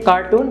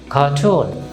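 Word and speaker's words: cartoon: এখানে লক্ষ্য করুন আর এর পরে কি আছে কনসোনেন্ট, সুতরাং আমরা আরটাকে উচ্চারণ করব না, আমরা কিন্তু কার্টুন বলবো না, আমরা কি বলবো কার্টুন।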